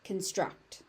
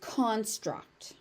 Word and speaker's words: construct: As a verb, it is construct. As a noun, it is construct.